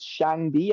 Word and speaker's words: Shangdi: tried to infiltrate China, they tried to translate Shangdi. I think, I don't know if I'm pronouncing it right.